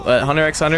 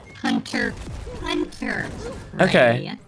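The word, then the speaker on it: Hunter × Hunter: I was just kind of like confused like, oh, Hunter X Hunter is getting a game now. Hunter Hunter, not Hunter X. It's Hunter X Hunter. I kind of forget. It's pronounced Hunter Hunter.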